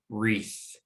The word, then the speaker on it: wreath: as a guardian consonant the second vowel will be silent and the first one will be long the word will be wreath wreath let's just talk